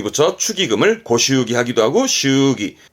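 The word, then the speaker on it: 祝儀: 요게 했던 거 의자라 축의, 축의에서 발음은 슈기, 슈기 합니다. 조심하세요. 발음은 슈기입니다.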